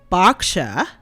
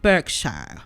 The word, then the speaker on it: Berkshire: cleared that up oh somebody told me that it's pronounced boxer not Berkshire Berkshire not Berkshire this is why I